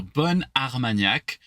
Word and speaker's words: bon Armagnac: So bon, it's very like round. But now suddenly it's like, remember, like bun. Like I have a double N suddenly.